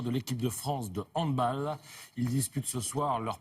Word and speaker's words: handball: ce Mondial de handball on dit bien handball hein et non pas handball on prononce à l'allemande ce Mondial donc c'est